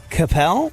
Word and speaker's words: Koppell: to make sure I get this right Jackie Capel yeah Rhymes a bell Jackie see how easy